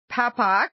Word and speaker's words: Papock: I'm very, very excited to have Melissa Papock. Am I pronouncing your last name right?